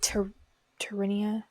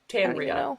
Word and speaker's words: Tanria: Tarinia? Tanria. That's how they say it in the audiobook.